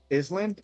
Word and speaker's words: island: Island insel land I don't like the silent S in that word, anyway.